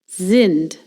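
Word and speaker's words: sind: If S is followed by a vowel, you pronounce it like the Z in the word lazy. Zind.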